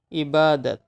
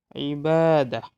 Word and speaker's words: ibadat: Ibadat. Ibadat. It is Arabic word. Ibadatun. You also can pronounce ibadah.